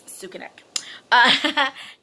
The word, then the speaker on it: Sukanek: Everyone doesn't pronounce it right, but her last name is Sukanek, but she has always been called Sukanek or Sukanek. But it's Sukanek.